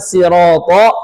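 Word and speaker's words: الصراط: Nah, ini yang setelahnya kan sirata hurufnya tebal semua. Sirata sirata tebal semua. Di depannya huruf tipis ada huruf lam, ada huruf mim, ada huruf sin. Jangan sampai gini. Tapi siratol. Kemudian mu manyun mu karena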